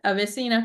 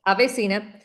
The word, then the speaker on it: AveSeena: Um, is is that am I pronouncing it correct? Oh yeah, that is it. Avesina. Okay. Avesina.